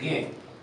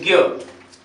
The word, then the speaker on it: ज्ञ: संयुक्त वर्ण कौन कौन से हैं, जैसे क्ष, त्र और ज्ञ, ये 3 जो है वो संयुक्त स्वर कहलाते, वर्ण कहलाते हैं, सॉरी।